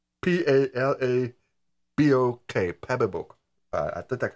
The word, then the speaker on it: Palabok: It looked like pancake, and I know what pancake is, but this one's called Palabok. P-A-L-A-B-O-K, Palabok. I think that's how you pronounce it.